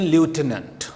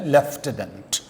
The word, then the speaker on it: lieutenant: یہ American pronunciation لیوٹیننٹ، spelling بھی یہی بنتے ہیں LIEUTENANT لیوٹیننٹ، لیکن جو برٹش پروننسیشن ہے لیفٹیننٹ، تو وہی پروننسیشن لیفٹیننٹ.